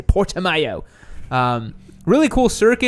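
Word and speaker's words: Portimão: i speak portuguese guys that's not how you pronounce the word it's portimo it's how it would normally be pronounced but nobody can say that so they say portamayo um really cool circuit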